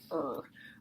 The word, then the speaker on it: Ur: major discoveries is the ancient city of er er is spelled you are so if you're using